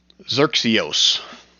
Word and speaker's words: Xerxios: Xerxios. Xerxios. Xerxi like the guy.